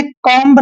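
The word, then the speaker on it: comb: silent होता है जैसे सी ओ एम बी इसको हमने कम नहीं पढ़ना है कम पढ़ेंगे क्या पढ़ेंगे कम क्योंकि एम के बाद बी आया है एम के बाद बी आया है तो बी का उच्चारण हमने नहीं करना है सिर्फ कॉम पढ़ेंगे क्या पढ़ेंगे कॉम कैसे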